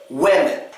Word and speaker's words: women: Women. And the second E gets the schwa. It's very unstressed and quick.